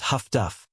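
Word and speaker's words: huff-duff: Highfrequency direction finding HFDF, often pronounced Huffduff, plays a supporting role.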